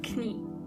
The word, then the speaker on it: Knie: Knee means das Knie. And in German you have to pronounce the K. Das Knie.